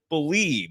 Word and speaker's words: BLEAV: Use the promo code BELIEVE. It's spelled BLEAV for your 50% free bet credit on your first deposit up to $250.